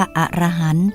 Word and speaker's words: อรหันต์: อรหันต์ ที่ ถูก ต้อง ออก เสียง ว่า อรหันต์ จำ ไว้ ที หลัง